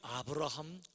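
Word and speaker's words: Abraham: 자, 에이브러햄 링컨 그랬는데, 에이브러햄은 미국식 발음이에요. 사실은 아브라함이에요. 그래서 글자 그대로 읽으면요, 아브라함 링컨이에요.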